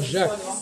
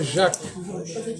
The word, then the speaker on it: Jacques: Voyez-vous, bref, ne pas prononcer le C au masculin et le garder pour le féminin.